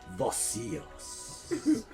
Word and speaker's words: Vocios: He was Vocios. You have to say it like that.